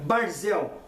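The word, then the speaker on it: ברזל: hebraica língua na qual o ferro se pronuncia pronuncia barzel existe uma semelhança fonética entre brasil e barzel ei ei mas eu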